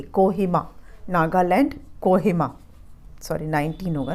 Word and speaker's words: Kohima: इसको पढ़ना भी सीखे, कोहिमा, नागालैंड, कोहिमा।